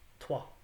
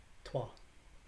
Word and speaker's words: two: heavy t-o or t-o-o in middle english we're going to pronounce that w and the o is not going to be pronounced ooh it's going to be pronounced ah and so the word